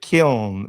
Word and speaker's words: Kiln: Yes, Lucius is saying that the word is killing us, brothers. It's called kiln. Am I saying it right? Kiln. I thought they pronounced it kiln, but I heard people saying killin. No, it's kiln.